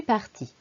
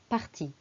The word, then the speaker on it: partie: Je suis partie. Vous voyez, il y a le féminin en rose, partie, et le masculin, partie, en bleu. C'est la même prononciation.